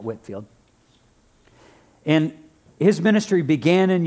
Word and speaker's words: Whitefield: There was a gentleman before the American Revolution by the name of George Whitefield or George Whitfield. It can be pronounced both ways. It looks like Whitefield, but they call it Whitfield.